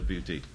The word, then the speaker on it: Beauté: license to an existing business, Jen's Salon de Beauté. I hope I pronounced it right.